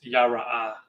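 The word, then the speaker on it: ירא: And the way it's pronounced is yara.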